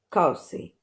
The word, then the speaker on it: cozy: Here is with S, center, and cozy with K.